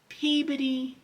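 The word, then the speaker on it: Peabody: Say it with me cuz you don't want to say it wrong. Peodyy, Massachusetts.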